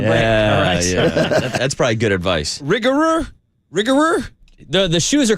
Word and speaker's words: Rigorer: brand for you it's a little hard to pronounce r i g o r e r r i g r e r rigor that